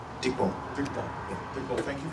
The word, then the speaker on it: Dikko: So, am I pronouncing this Dikko? Dikko.